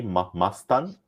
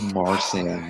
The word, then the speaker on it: Marsan: Is it Eddie Marston or Marsden? Marston. I don't know how to pronounce it. It's Eddie something. 4, Eddie. 3, 2. Eddie Marston, final answer. Incorrect. It's Eddie Marsan, no T.